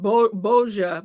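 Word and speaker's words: Božo: pronounced it Boja, but it's spelled B-O-Z-O.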